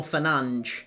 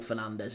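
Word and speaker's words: Fernandes: I mean, even I know Bruno Fernanch is how you're supposed to pronounce it, but it's Bruno Fernandez, isn't it? Let's be straight. I know that he's even he says it's Bruno Fernanch, but I'm not I'm not calling him Bruno Fernanch.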